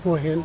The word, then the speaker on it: Hua Hin: Hua Hin.